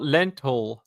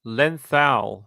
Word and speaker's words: Lenthal: Uh not Lental, Lenthal. So her name is spelled L L E N T H A L. Lenthal.